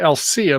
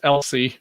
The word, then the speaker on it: Alsea: Yeah, it seems like it should be Alcea, but it's Elsie. We don't get the Ia at the end of it for some reason.